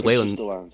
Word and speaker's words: Whalen: other player is uh Lindsay wh it's Lindsay way over the last five years it's it's the